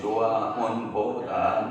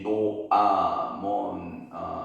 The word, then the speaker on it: 노아몬: 히브리어 말로는 노아몬, 영어권에서는 테벳 이렇게 발음이 된다고 그러죠.